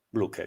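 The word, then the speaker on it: Blücher: fortuna e grande aiuto di Brook blook blooker bluker Grazie per la pronuncia BL va bene e allora Buona notte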